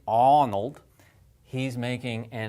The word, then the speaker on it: Arnold: Schwarzenegger is Arnold alright Arnold no one would say Arnold Arnold from here right how does he say his name Arnold aw aw aw that is the sound that I makes if I